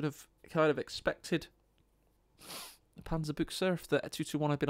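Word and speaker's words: Panzerbüchse: Panzerbuchse.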